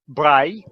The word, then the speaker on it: Braille: Braille by the way in French it's really not called Braille it's Bry right so if you